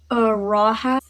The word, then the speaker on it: Rahab: Rahab, that's how you pronounce that.